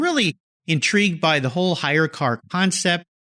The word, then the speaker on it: HyreCar: need to learn about hire car and I'll spell that for you listeners hy r e CA r yes like any good tech